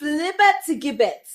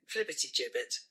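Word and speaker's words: flibbertigibbet: Flibber to gibbet. Flibber to gibbet. Yeah, flibber to gibbet. Okay, and this is how we say it. Flibbity gibbet.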